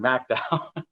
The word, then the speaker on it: McDowell: in mcdowell county and i learned how to pronounce the county uh when i was in lewisburg macdowell and that's on a fully reclaimed coal mine